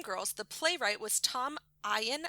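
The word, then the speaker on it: Eyen: So the writer for the original stage production of Dream Girls, the playwright was Tom Ian, I think it's pronounced E-N.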